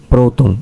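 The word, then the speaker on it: πρώτων: Porque la última sílaba es larga. Última sílaba larga, acento agudo en la penúltima sílaba.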